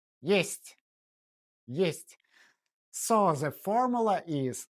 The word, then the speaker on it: есть: Есть means there is or it exists. It sounds like the English word ist, but shorter. Есть.